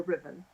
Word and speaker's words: Ruthven: I've been on enough panels that if you are speaking to an audience in the United States and you say Riven, they have no idea who you're talking about.